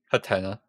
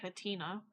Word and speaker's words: Hatenna: Anyways, uh how do you say this one correctly? Hatenna. I was going to say Hatina, but that's fine. Hatenna. Oh, like a hat and an an antenna.